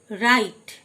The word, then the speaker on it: write: রাইট, WRITE রাইট, W silent, রাইট মানে লেখা।